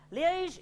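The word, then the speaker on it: Liège: drove overnight from liege is it pronounced liege yeah liege in Belgium I'm very sorry about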